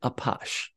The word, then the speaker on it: Apache: French author Gustav Amar the French pronounce it apash and the term stuck for that kind of a criminal now for the apash dance we'll skip ahead